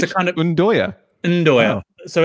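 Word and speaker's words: 'nduja: Because it's pronounced Ndoya, by the way, Michael. Yeah, it's a kind of Ndoya.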